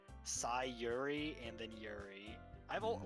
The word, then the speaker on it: Sayori: like it's ori but apparently you're supposed to pronounce it like yuri with a uri so it's sai yuri and then yuri i've all like for years i've said sayori because of the oh but apparently it's fury